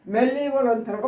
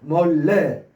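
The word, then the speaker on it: malevolent: 그러니까 이것도 멜리벌런트라고 하면 안 돼요. 멀레. 여기에 강세가 들어가죠. 멀레.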